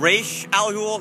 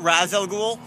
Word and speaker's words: Ra's al Ghul: Mispronunciation of Ra's al Ghul, not Raz al Ghul.